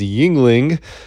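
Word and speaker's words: Yuengling: have a choice because the proper pronunciation of this one is yingling as a beer so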